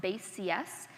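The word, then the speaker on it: BaseCS: So the joke is that it's pronounced base CS, but it's spelled like basics, like the basics of computer science.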